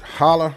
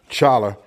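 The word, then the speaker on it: challah: I would have used hala bread. You know, some it looks like it's spel pronounced chala.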